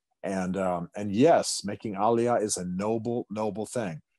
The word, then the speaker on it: aliyah: sense to you uh the words pronounced aliyah aliyah and what he's talking